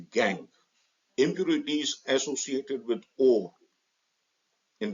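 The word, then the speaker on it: gangue: OES gang spelling G and G E but pronounced gang impurities associated with or in the form of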